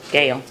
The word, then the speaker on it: Gale: So I contacted, how do you say his last name, Steve Gold? Gale. Scale. Gale, I always want to say Gold, I probably called him that 20 times.